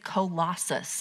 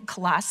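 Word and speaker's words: Colossae: say this and so apparently it is colossus is how you say we were saying clase i guess is what we were originally saying but that's not actually i don't know i've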